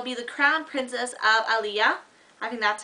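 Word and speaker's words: Illéa: heart and they'll be the Crown Princess of Aliyah having that's how you pronounce it and for America singer she's not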